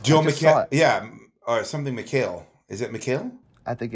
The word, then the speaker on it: McHale: Yeah, or something McHale.